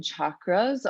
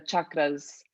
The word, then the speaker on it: chakras: supposed to do the chakras and some people will pronounce it like that that's how it is in the native tongue chakras but you can call